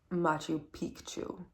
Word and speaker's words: Machu Picchu: Machu Picchu. That's the correct pronunciation.